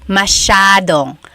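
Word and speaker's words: masyadong: Elijah said, "How do you pronounce mashadong?" Mashadong means a lot. So the s y a is a sha sound.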